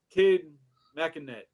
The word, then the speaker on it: Makinet: So, Kid Makinet, right? Yep. Makinet is the correct person.